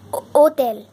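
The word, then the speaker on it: hôtel: इसका मतलब है कि हम फ्रेंच में हो होटल को इस तरीके से लिखते हैं लेकिन बोलते हैं ओ तेल जो एच है उसको हम प्रोनाउंस नहीं करते इसलिए एच एक वल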